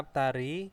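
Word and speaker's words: 앞다리: Terus ada aptari, kaki depan ya. Nah, menjadi apa? Aptari ya. Bacanya pakai T.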